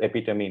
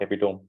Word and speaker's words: epitome: It is epitome, not epitome.